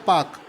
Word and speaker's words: Palk: जो पाल्क स्ट्रेट है, जिसको देखिए स्पेलिंग होता है PALK, लेकिन इसको बोलते हैं पाक, L इसमें साइलेंट होता है।